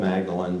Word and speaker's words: Magdalen: You must picture me alone in that room in Magdalen College. He says Magdalen, spelled Magdalene, but it's pronounced Magdalen.